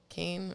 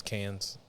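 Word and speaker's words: Cannes: there's Kane is ITA Kane I think is how you're supposed to say it Oh I thought it was can's I'm just kidding I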